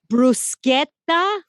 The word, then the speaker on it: bruschetta: Like it's bruschetta. Excuse me, bru with a flipped R, not a rolled R.